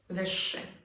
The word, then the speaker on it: wyższy: The exact same thing is going to happen with wyższy. Again, not szy, wyższy. The ż z kropką becomes unvoiced.